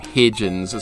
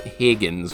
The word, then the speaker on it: Higgins: Higgins is laughing somewhere I always say his name wrong hidgins Higgins but I always want to say hidgins for some reason tag gym I hope